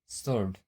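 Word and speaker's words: sword: Answer सोर्ड। यहाँ पे देखिए जो है एस के बाद डब्लू आया हुआ है, तो वो डब्लू क्या हुआ है, साइलेंट है।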